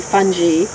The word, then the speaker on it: fungi: the G is a, make it soft sound. So that's why I say fungi, fungus. Got it. And, you know, no one really knows, but I do believe that the I should be pronounced as E in Latin.